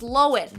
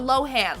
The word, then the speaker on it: Lohan: name and turns out it's pronounced lowen not Lohan like we've been saying